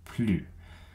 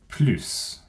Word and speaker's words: plus: it's a negation so with a negation we never pronounce the s on plu but if it isn't a negation you might hear plus i already have a